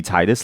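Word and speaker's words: Tidus: Why is his name Teetus? I don't know. I feel like he should be Titus, like a tide of water. But I'm not the pronunciation guide at Square Enix. I'm not the pronunciation guide. I just think, there's a very IMO Titus, a tide of water. I feel like that's a cooler name than Teetus. Like the teat of a cow.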